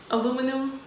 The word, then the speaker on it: aluminum: Aluminum. Huh? Aluminum. What's that? No, pronounce it again.